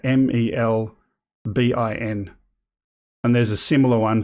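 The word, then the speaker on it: Melbourne: The capital of Victoria is pronounced Melbin. You're an Aussie if you pronounce it like that, Melbin.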